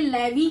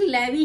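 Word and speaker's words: Levi's: next जो है यह लेवी का बैग है I think लेवी he pronounce करते हैं इस ब्रांड को यह कुछ इस तरीके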